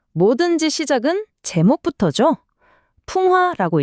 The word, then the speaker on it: 풍하: 풍화라고 읽습니다. 한자를 한번 뜯어 볼까요? 첫 번째 글자 바로 바람 풍자입니다. 음은 풍이고 뜻은 바람이죠. 그리고 두 번째 글자는 네, 연꽃 하자. 음은 하 뜻은 연꽃입니다.